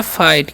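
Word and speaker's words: fight: आई जीएसटी है तो इसे हम लोग पढ़ते हैं फाइट क्या पढ़ते हैं फाइट पढ़ते हैं क्योंकि यहां पर जीएच जो है साइलेंट है ठीक है तो फाइट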